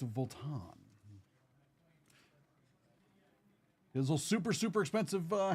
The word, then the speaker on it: Vuitton: It's not Voltton, it's Volan.